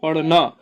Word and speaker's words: पढ़ना: लेकिन जहां पर क्या, इसको अगर सही उच्चारण करें बिंदी करके तो पढ़ना।